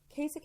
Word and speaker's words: Kasich: but almost no one almost no one can pronounce this poor man's name Kasich it rhymes with basic but as I was